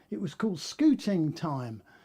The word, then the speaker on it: Scooting Time: The name is Scouting Time, all right. Oh no, it was called Scooting Time, SCOOTING. That's how I pronounce it anyway. Scooting Time, like on a scooter.